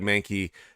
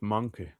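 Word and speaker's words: Mahnke: Doug Mankey did uh great work on this series. Um, oh, I pronounce it monkey.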